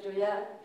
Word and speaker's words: Gioia: je commençais par der en fait je m'appelle Joya donc je me suis dit on va simplifier